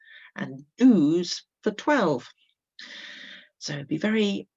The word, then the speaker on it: douze: So it's got that z at the end. That's for a dozen. That's how I like to remember it. Douze being very much like a dozen.